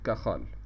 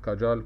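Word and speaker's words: Cajal: سيشال سيلز اوف كاخ هو شخص اسباني ف النطق الاصح ليها ان الجي هنا هتطق زي الخا في بعض بينطقها كيال وفي بعض بينطقها كاجال كل النطق صحيح يعني لكن الاصح انها زي زي زي الخ هي عباره عن ميزنم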